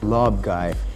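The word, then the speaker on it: Larb Gai: Lob Gai, the way it is spelled is not the way it is pronounced, being actually Lob Gai.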